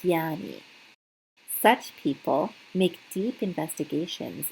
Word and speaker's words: Jnani: Belief becomes faith when there is a goal and when what one believes becomes the actual goal, this is what makes a “Jnani” (pronounced “gyani”).